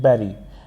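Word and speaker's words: bury: पहला जो वर्ड है बी यू आर वाई इसको कहते हैं बैरी और इसका प्रोनाउंसिएशन होता है किस तरह से? बेरी उसके बाद में है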